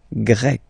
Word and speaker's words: grec: get Grec, masculine form, Grec, feminine form. You write them differently, but then, if you listen carefully, Grec, grec, you pronounce them the same way.